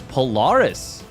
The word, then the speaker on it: Polaris: different story all right this is Polaris rhymes with Karis all right spawning down